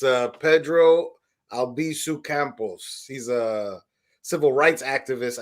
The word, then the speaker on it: Albizu Campos: it in english but how do you say the name in non-english in spanish yes it's pedro albiso campos oh but in english